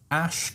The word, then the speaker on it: Asch: It's called the Ash conformity experiment, and it's a very famous psychological experiment that has tremendous insights spiritually and otherwise.